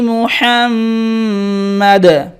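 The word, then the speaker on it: محمد: মিম পেশ মু, হামিম জবর হাম, হরকতের পরে মিম তাজদিদ, ওয়াজিব গুন্না। মিম জবর মা, দাল দুই জেরে দিন।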